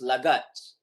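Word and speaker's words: laggards: Yang last ni The pronunciation is lagats.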